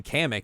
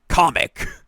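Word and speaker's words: Kamek: like they name they the way they pronounced it was weird like comic I was like what excuse me what I always I always called him comic I always called him kamik yeah I always called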